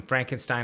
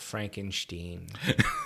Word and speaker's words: Frankenstein: I uh I think those odd pronunciations of Steen and stuff like that were just invented later so that people didn't sound Jewish and um Frankenstein sounds